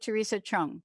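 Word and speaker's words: Theresa Chung: your name the way that my other friends pronounce it but I'm calling it Teresa Chung is that right yes correct first time um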